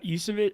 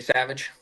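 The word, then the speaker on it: Trey Yesavage: Blake Snell going for the Dodgers against Trey Yusevich. How do you say that? Trey Savage. You Savage.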